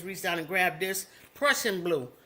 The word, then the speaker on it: Prussian blue: I have here, I just reached down and grabbed this Prussian blue. It's like Russian, but it's spelled with a P. Prussian blue, okay?